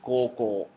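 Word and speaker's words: 高校: Preparatoria es koko. ¿Sí? Voy a poner, enseñar una palabra. Kou, kou. Kurikaeshi kudasai. Koko. ¿Sí? Escribe u, pero pronunciación o.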